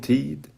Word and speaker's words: tid: It's spelt till, but tid, it's a very gentle touching of your tongue to your top teeth. Tid. Very, very gentle. It's the gentlest D that you can produce.